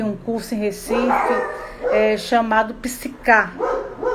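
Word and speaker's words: PSYCH-K: E aí veio uma americana dar aqui um curso em Recife, chamado Psicar, que se pronuncia Psyche.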